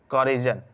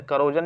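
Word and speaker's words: corrosion: the methods of प्रीवेंटिंग करजन कर कोरोजन भी कहते हैं करजन भी कहते हैं तो कोरोजन सही रहेगा सबसे स्टेबल इसका कह प्रोनाउंस एशन है कोोज तो डिस्क्राइब द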